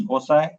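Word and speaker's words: foci: has two Focus points the word fosi pronounced as fosi is a plural of focus okay so these are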